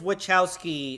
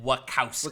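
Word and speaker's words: Wachowski: His last name is Wowski. Well, but they pronounce it Wakowski.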